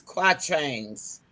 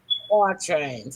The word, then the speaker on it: quatrain: It's spelled QUATRAINS, just like trains.